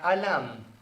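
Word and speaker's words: עלם: Olam viene de una raíz hebrea que se pronuncia alam.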